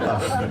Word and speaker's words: Bach: And it's not pronounced Bach. That's what Americans say, but sorry. It's called Bach.